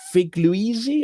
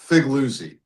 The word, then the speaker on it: Figliuzzi: We're joined by uh Frank uh Figluey. Have I got your pronunciation of your your name correct? You get an A for effort, a B minus for pronunciation. It's three syllables. Figuzzi. Figuzzi.